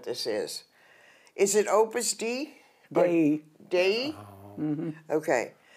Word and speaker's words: Dei: And it's pronounced Dei? Dei. Deity.